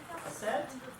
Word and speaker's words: assent: First word is assent. Yeah. Assent. A-S-S-E-N-T. Which assent. That's what I said. Well, I put the emphasis on. Yeah. You put the emphasis on the wrong syllable.